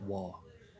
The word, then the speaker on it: Vav: So, and the Vav is pronounced Wah, like a W.